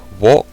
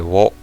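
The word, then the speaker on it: を: Then we have wo or o, depending on the context. You can say wo.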